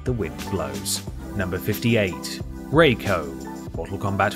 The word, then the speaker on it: Rai Cho: The voice actors refer to him as both Rai Cho and Rico, while the developers have called him Rai Cho.